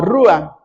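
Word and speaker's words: רוח: Y en hebreo se pronuncia la palabra como rua.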